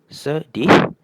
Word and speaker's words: sedih: So you can see whenever E is paired with an I or U it has an "er" sound.